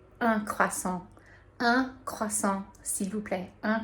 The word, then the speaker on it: un: So that's spelled UN, and I think originally for me, like when I saw that word, I wanted to say like un or une, something like that, but it's un. And if you think about kind of like making a fake little smile, you will have the UN pronunciation correct, and you can say